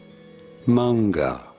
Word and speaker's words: manga: than mine in the mango or anime in English the word of course from Japanese how do you go about pronouncing it manga bro just called manga